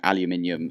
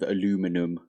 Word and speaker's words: aluminium: does sound better but aluminium is how you're supposed to say it in the UK at least like you can say it like however you want to say it in your country but in the UK we're supposed to say it like aluminium even though it sounds worse